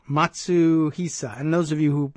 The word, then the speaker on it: Matsuhisa: Japanese celebrity chef Nobu Matsuhisa, I'm sorry. I've got that wrong. Matsuhisa.